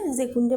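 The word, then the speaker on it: Sekunde: যুক্ত করে দিতে হবে ডি মিনুটেন ওকে ডিজেকুন জেকুন্ডে মানে হচ্ছে সেকেন্ড যদি বলা হয় সেকেন্ড গুলো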